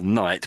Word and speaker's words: knight: Of course, you put a K in front of it. Of course, the N goes small. I guess you would say it's still night, but it means something completely different, doesn't it?